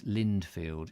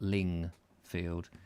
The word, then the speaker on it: Lindfield: Michael White old place Lindfield yes not lingfield I was uh getting